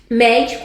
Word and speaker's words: médico: Médico, a mesma coisa. Por que é o agudo? Porque é mé e não médico.